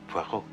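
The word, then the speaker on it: Poirot: Po. No, no, no. Puero. It is pronounced Puero.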